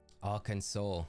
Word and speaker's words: Arkansas: you thank you chat just don't pronounce the S at the end educated already this morning